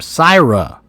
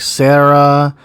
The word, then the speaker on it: Syra: Okay, so that's how you say her name, Syra. Plenty of people have called her like Sarah, and she has not corrected anyone. Anyone.